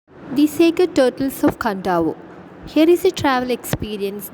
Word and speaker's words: Kadavu: The sacred turtles of Kandavo. Here is a travel experience that acquaints us with a strange ritual on Fijian island. Read on. On the island of Kadavu, pronounced Kandavo, one of the larger